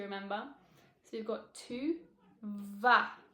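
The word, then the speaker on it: vas: so we've got to VA v a s you don't pronounce the S do not pronounce the S just VA that's all VA to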